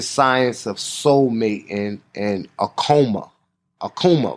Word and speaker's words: Akoma: Akoma, right? How do you pronounce that? Yep, it is the Akoma.